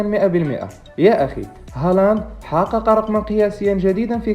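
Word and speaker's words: Haaland: ضيفنا لهذا المقطع هو إيرلينغ هالاند. Thank you. وقع اختيارنا اليوم وتحت طلبكم على الموهبة النرويجية إيرلينغ هالاند، أو كما ينطق اسمه بالنرويجية هولاند.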